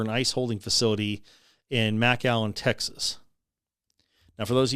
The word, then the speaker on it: McAllen: ice holding facility in Mac Allen, Texas. Now for those of you looking at the screen, it's not McAllen, it's Mac Allen. That's how they pronounce it down there.